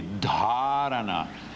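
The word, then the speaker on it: धारणा: O DH de Dharana, olha o som aqui, Dharana, é diferente do DH com Y ou com I. Como é que se pronuncia aqui? Dharana. E aqui? Dhyana. E aqui? Samadhi. O som muda.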